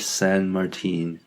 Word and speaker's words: Saint Martin: Port yeah any know it's spelled saint but of course it's French so it's more like San San and St Martin my port San Martin my beautiful Flawless French